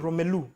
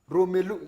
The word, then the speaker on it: Romelu: You have to say his name in a certain way. Romelu. Romelu, exactly.